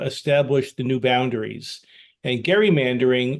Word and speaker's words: gerrymandering: the new boundaries and Gary mandering often pronounced gerrymandering uh is the process